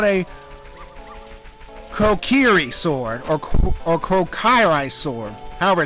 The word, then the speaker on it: Kokiri: the sword I had previously is called the Kuroki sword. That's wrong. I like to retract it right now. The sword is actually called a Kokiri sword, or Kokiri sword, however it's pronounced.